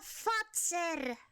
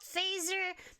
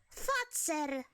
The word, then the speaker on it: Fazer: No, he said it wrong. It's a Fazer. The company name is a Fazer. Not Phaser, not Feezer, Fazer.